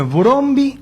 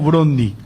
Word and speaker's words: Brøndby: ¿Cómo es? ¿Brøndby o Brøndby? Como el primero. El primero, Brøndby.